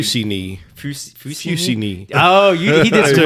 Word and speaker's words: Fussigny: sure, but it's Dave Fussigny Cognac XO. Hey, you did better than I could. I'm assuming that's how you pronounce it. So, do you It's all actually Fussigny.